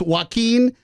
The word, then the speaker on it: Joaquin: everyone's gonna think everyone's gonna it's no it's Joaquin team yes yes oh yeah that's him he's